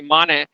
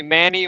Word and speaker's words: Mane: Like I speak earlier, my name is actually Mane, but people call me Manny or Maine because it's easier for you guys, the Westerners, to pronounce it like that. It's Mane.